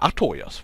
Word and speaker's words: Artorias: Ja, Artorias. Wunderbar. Wunderschön. Okay, habe ich doch nicht falsch ausgesprochen.